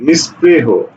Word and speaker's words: নিস্পৃহ: নিস্পৃহ, তাহলে নিস প্রে সহকারে হো, নিস্পৃহ। নিস্তব্ধ, এটার উচ্চারণ লিখো, নিস্তব্ধ, উচ্চারণ লিখো।